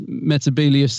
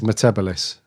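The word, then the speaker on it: Metebelis: a classic quote um Sarah Jane also mentions metabus 3 and she manages to say it right say it right yeah so well done yeah that was cool actually yeah because uh was it Matt Smith's doctor that says metabolis which Isis 3 God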